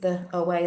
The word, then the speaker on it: The OA: and that and that is how you say it the OA that's what the series is called I've watched it